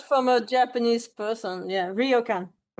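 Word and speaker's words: ryokan: Royokan hotels. I heard from a Japanese person. Yeah. Rioan.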